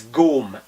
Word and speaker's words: gome: i'll throw it on target the word is gom g-o-m-e like home i have had enough ears